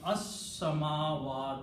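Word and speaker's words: السماء: pronounce this वि लाम then सी scene शमसी letter लाम इ नॉट प्रोनाउंस सो इ ब अस सवा तु the full word after this changes become अस समावा तो द हेवनस ओके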